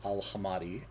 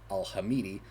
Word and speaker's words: Al-Hamadi: to i'd likely been mispronouncing ali al-hamadi as ali al-hamidi just botching the second vowel in the last name i caught myself on